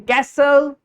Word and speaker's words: castle: In castle, the word T is silent.